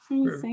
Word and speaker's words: Keokee: Is that how you pronounce that? Keokee? Keokee.